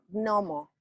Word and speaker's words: gnomo: debería de pronunciarse gnomo. Ajá. Hay una G Ah, antes, pero se pronuncia gnomo.